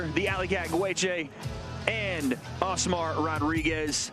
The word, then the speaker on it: Gueche: That's not how I heard it pronounced, but it is Gueche, representing Jackrabbit Boxing out of Long Beach.